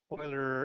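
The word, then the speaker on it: Euler: it's called boiler's constant Oiler is spelled like uler e l r but pronounced like oil what pi is to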